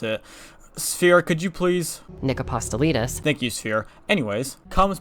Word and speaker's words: Nick Apostolides: Nick Nick Apostolides. Yeah, that's definitely not how you pronounce it. Sphere, could you please? Nick Apostolides.